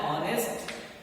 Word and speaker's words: honest: An honest man. Here also H is there, but there is no hissing sound. It is silent.